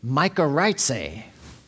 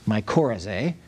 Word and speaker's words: mycorrhizae: and these are called mycorrhizae. I think it would be better if it was mycorrhizae, but I looked it up, and I don't know why it's pronounced that way.